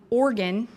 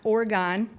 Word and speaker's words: Oregon: a little bit too to organ organ not Oregon I'm learning how to pronounce it you have had